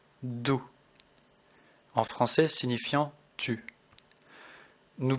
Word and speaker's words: du: que la prononciation diffère le U en allemand se prononce ou écoutez bien je vais